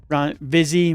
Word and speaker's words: Vizzy: Vizzy rhymes with fizzy, but I'm not too particular about it.